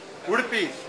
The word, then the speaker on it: Udupi: National Thinkers Meeting, and we're at, and correct me if I don't pronounce this right, Udupi? Udupi, yep.